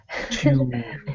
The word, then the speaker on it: tube: And they pronounce it tube. Tube. Tube. In British English, you pronounce the U sound in the U, so tube.